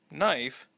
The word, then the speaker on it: knife: used to be pronounced now the K is silent but because there are other words spelled in a similar way for example no KN knife we can say that